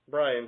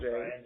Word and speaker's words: Brion: In fact, his name is not even spelled in the conventional way that the name Brian would be spelled. It's spelled right. Brion. Brian James.